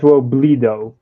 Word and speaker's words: Robledo: That, unfortunately, is not correct. It's pronounced Robledo. Robledo. Okay, so take Yeah. the E and make it two E's.